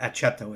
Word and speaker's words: aceto: comes from vinegar and the latin name for vinegar is aceto or aceto is actually how it's pronounced we have benzoic acid